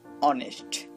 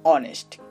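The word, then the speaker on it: honest: তেমনি করে দেখুন অনেস্ট, এখানে এইচ বসেছে ঠিকই, বাট কোনো কাজ করছে না, কাজ করছে পরের বর্ণটা, তাই আমরা এটাও চোখ বন্ধ করে বলতে পারি এর পূর্বে অ্যান ব্যবহার হবে।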